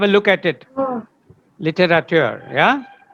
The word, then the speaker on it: littérateur: Littérateur, yeah? Because it's a French origin, the last EUR is pronounced littérateur, okay?